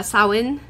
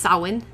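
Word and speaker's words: Samhain: know at least how to say like uh sawen the coming holiday of Halloween yeah it's not champagne although it does is a little easier for English voices it's sawen so it's it's like damn okay thank you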